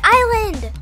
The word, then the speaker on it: island: in treasure island it's island oh fine there's okay the s is silent i have no